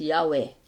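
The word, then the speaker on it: Yahweh: Y hhw ay pino-pronounce nila mga kapatid as Yahwe. At ang pronunciation pala doon ay Yahwe.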